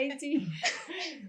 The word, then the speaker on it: Itxi: Por cierto, Ichi, lo estoy pronunciando bien, ¿verdad? Sí. Ichi, vale, es que ayer un amigo me dijo, yo creo que no se pronuncia así, y yo, pues yo creo que sí, pero le voy a Pues preguntar, un no vaya a besito ser. para ese amigo. Sí que es Ichi, ¿ves, Sí.